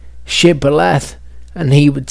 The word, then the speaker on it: Shibboleth: What was a sh for one tribe was a s for other tribes.